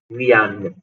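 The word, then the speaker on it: viennent: वियान, इल वियान, ई एन टी नहीं पढ़ना है, तो यहाँ तक पढ़ो बस।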